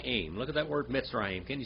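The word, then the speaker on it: מצרים: look at that word mitzrayim can you say that brother Mike Mitzrayim miss Ryan that's how you say Egypt in Hebrew mitzrayim say that guy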